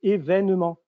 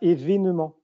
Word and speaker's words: événement: Donc, si vous prenez dans la rectification orthographique de 90, si on prend événement, par exemple, on va changer l'accent parce qu'on va prononcer événement. Et pas événement.